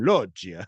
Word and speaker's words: Loggia: Loggia, Robert Loggia.